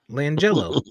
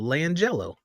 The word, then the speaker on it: LiAngelo: LiAngelo. Langelo. It No, just depends on how you read it. no. It's spelled Liangelo. Langelo.